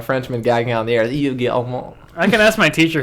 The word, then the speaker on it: Yves Guillemot: That's how you say his name. You think it's funny? You can laugh. Yeah, he's a French man. That's literally how you say his name. Like exactly. Yves Guillemot. Yves Guillemot. Yeah. If you try to read it, it's Ves Guillemot, but you don't read that.